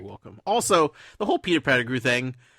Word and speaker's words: Pettigrew: The last name, when pronounced syllabic, with syllables, there we go, is Pettigrew. Play on words seems so obvious now. Yeah. He was a pet, and then he grew.